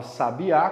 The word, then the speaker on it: sabiá: Quando a gente fala sabiá, qual que é a mais forte? É o A no final.